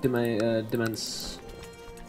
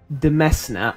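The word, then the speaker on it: demesne: Or to increase my demence. It's not demence, is it? It's never demence. It's domain, right? Demesna. If you do not pronounce that Demesna, I will just, I don't know.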